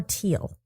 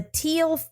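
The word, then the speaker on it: Thiel: Is it Theal or Teal? I have to imagine that a H is silent when you That's what my gut tells you.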